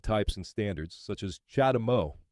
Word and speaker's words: CHAdeMO: and standards such as Chad Mo pronounced charge the move this is a Japanese phrase that in English translates as a charge for moving chadeo is the trade